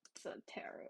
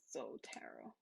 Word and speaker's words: Zotero: The GitHub What I would do is to Google to search Zotero, not Zotero, it's Zotero.